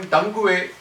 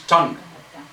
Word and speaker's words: tongue: He's calling tangu. Sir, it is not tangu. It is tongue. The u and e are silent.